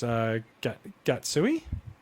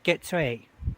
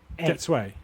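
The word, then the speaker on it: Getsuei: have to remind me how to pronounce Gatsui. Oh, Getsui. Getsui, right? Yeah.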